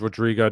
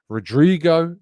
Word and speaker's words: Rodrygo: Rodrigo is spelt with a Y. There is no I in Rodrigo's name. And I'm not having a go at you, Gary. You're not the only one who's done it, but it really gets on my nerves. It's spelled Rodrygo. Okay?